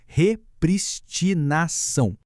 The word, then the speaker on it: repristinação: Atenção à pronúncia, repitam comigo, repristinação. Repristinação do preceito secundário.